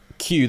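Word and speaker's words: queue: I found out that Q the word q is just okay so q q u u e is just a q the letter followed by four silent letters I knew I think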